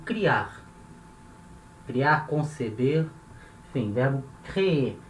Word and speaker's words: créer: Como é o verbo créer. É o verbo criar. Criar, conceber, enfim, verbo créer. Repara quando eu falo, ó, créer. Eu falo duas vezes, créer, créer, porque a sílaba tônica é a última, tá?